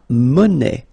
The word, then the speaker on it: monnaie: Then, la monnaie. Monnaie, okay, final not pronounced.